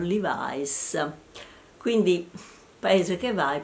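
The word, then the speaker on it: Levi's: quel punto i Levis i jeans che noi chiamiamo Levis in America li chiamano livis quindi paese che va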